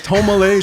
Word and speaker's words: Tomalieh: Yeah, it's Tomalieh.